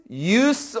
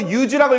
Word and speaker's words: use: His use of blue. 이거 use라고 읽으면 안 되죠. 얘는 명사로 쓰였으니까 of니까 use입니다. 사용이죠.